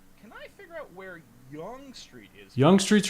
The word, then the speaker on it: Yonge Street: It's spelled like Yonge, Y-O-N-G-E, but it's pronounced Yonge Street.